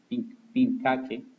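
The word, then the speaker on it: pinchaque: Esta palabra, cuando aparece CH, no se pronuncia chache, chi, sino se pronuncia como si fuera una K. Entonces sería Tapirus pincaque, sería el nombre científico de la Danta.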